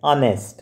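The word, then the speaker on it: honest: ऑनेस्ट बोल के देखना आपने, ऑनेस्ट क्या लगेगा, एन ऑनेस्ट, एच साइलेंट है।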